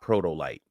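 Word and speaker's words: Protolyte: So, if you want a good protein powder, I recommend you buy Protoolite. It's spelled P R O T O L Y T E.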